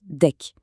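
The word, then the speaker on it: deque: Prochain outil, le deck qu'on prononce deck.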